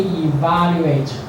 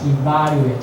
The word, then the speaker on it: evaluate: About second part, enunciation, we evaluate other people's speech, evaluate. So the syllable is on the stress is on the second syllable.